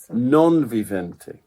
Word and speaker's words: non vivente: it's not quite it's it's Latin which is exactly the same as the Italian okay it's again pronounced the viente non vivente there we go which